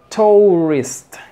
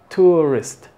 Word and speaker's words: tourist: tu es no es tourist como está escrito tampoco es tourist una u completa No no es tourist es una u suavecita así tourist tourist fíjate bien Es que